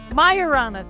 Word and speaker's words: Majorana: and I should have figured out how to pronounce this before. Andy will let us know. Yeah? Majorana. Majorana, thank you.